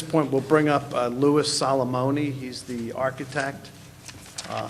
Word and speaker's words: Louis: My name is Lewis Salomony.